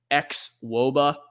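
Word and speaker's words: xwOBA: is what it is x woba is how they pronounce this 39 it's expected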